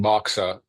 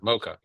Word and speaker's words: MoCA: You hadn't yet mentioned it, and I wondered about, because I actually spoke the language of this group of people, about doing moxa in the clinic, in our own clinics, as a diagnostic approach.